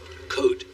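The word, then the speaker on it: Côte: Code. The S is silent.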